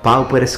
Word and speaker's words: pauperes: But I think that it's the full name in Latin that really reminds us this concept, pauperes commilitones Christi templique salomonici. And I have used ecclesiastical pronunciation on purpose here.